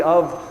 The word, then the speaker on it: of: Phonetically, of sounds more like a V than an F, so there are a couple of brain-related reasons we pass over it.